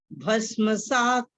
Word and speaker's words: भस्मसात्: भस्मसात् त की आवाज कम। भस्मसात् कुरुतेर्जुन।